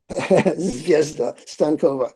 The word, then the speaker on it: Zvezda Stankova: How do you pronounce his name? Zvezda Stankova.